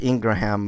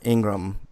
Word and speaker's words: Ingraham: I said Ingraham. I misspoke. Her name is Laura Ingram.